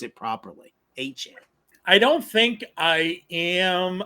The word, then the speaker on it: Achane: I gotta make sure I pronounce it properly. Achane.